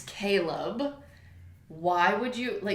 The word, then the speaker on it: Caleb: and the narrator insisted that his name was Caleb. But it's not. It's Caleb. Why would you, it's spelled Caleb.